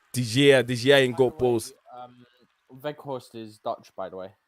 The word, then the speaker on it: Weghorst: And also up front we have how do you say this name? Walgrust or whatever his name is. Oh, Weghorst. That's the guy they Weghorst.